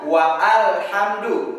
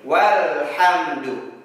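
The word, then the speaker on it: وَالْحَمْدُ: Jadi kita tidak baca wa alhamdu, tetapi langsung saja kepada lam sukun menjadi walhamdu.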